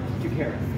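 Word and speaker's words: Chakiris: George, the one you mispronounced. George Takaris. Yes, I did it right. Is that right? Takaris.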